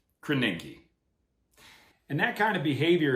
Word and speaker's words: Krasinski: It's pronounced Krasinski. Krasinski.